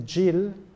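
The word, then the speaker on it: gyil: And interestingly enough, when they play instruments such as the djil, which is a mallet instrument that looks like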